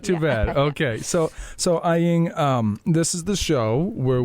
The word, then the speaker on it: Aying: Hello, Aying. Hello. How did I pronounce that?